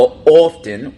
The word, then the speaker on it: often: And notice with the often, we pronounce the T.